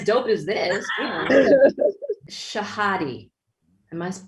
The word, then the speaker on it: Shahadi: Shahadi. Am I pronouncing?